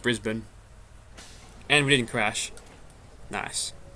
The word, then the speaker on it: Brisbane: a lot of Americans would ever call it Brisbane but yeah it's pronounced Brisbane and we didn't crash nice yeah I live